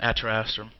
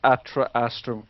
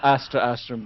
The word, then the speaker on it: Atra Astrum: thought completely, is that we've pronounced Atra Astrum correctly. So no slaying of the shoutcasters, okay? Yes, please. Please. There's no Astra Astrum being said apart from right then. So it's Atra Astrum.